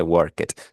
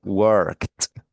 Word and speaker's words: worked: No me vaya a decir worked, no, no se dice worket, se dice worked, ¿okay? Porque la c vibra, entonces la ed la va a pronunciar como si fuese una t.